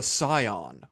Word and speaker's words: Psion: I thought I thought you pronounced the P.